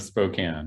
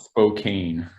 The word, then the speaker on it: Spokane: Proper pronunciation of Spokane, yes. It's not Spokane. Yeah. Do people get angry if you in Spokane, if you say Spokane?